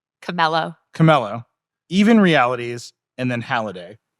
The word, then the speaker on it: Chamelo: So, Rockid, that's spelled R-O-K-I-D. Nuance, X-Real, everyone knows Nuance. Vuzix, Camelio, Camello.